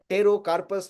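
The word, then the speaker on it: Pterocarpus: ये पियासल नाम है इसका, साइंटिफिक नेम है टेरोकार्पस मार्सुपियम। और ये मैंने वहां पे लिखा हुआ है, टेरो में पी साइलेंट है, तो टेरोकार्पस मार्सुपियम, ये लास्ट वाला, ये वाला नीचे लेफ्ट साइड का लास्ट वाला।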